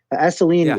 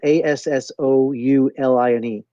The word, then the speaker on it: Assouline: Asoline is a really high-end book publisher for coffee table books. It's spelled Assouline. And so Asoline.